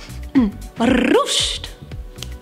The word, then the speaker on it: Ruched: Say it with me now. Ruched. That's how you say it.